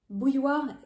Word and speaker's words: bouilloire: pronounce it so bu the first part boo just like boo I scared you right Boo then you have